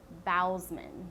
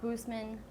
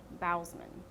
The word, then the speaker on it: Bousman: His name is Darren Lynn BOUSMAN, not BOUSMAN, BOUSMAN.